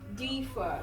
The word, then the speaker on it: differ: differ. It's on the first syllable, not on the last. So we have difference. Difference. Occurred. For occur, the stress is on the last syllable.